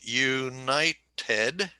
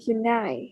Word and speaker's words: united: of word is that emphasis on the second syllable okay we have three syllables united and the accent is you know ted united united night okay nine united